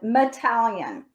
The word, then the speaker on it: Mateljan: His name, the last name sounds like Italian, Metallian, but the way it's spelled is, it looks like Madeljan, Mateljan.